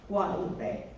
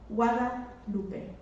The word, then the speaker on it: Guadalupe: Not Guadalupe. Guadalupe. Pronounce it right.